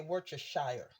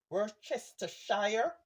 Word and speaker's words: Worcestershire: I say Worcestershire, right? When you Google the word Worcestershire, it's pronounced not like how it looks. So I say Worcestershire.